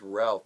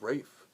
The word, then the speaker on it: Ralph: I mean, it is Ralph, but I think it's Rafe. I really do. I could be wrong.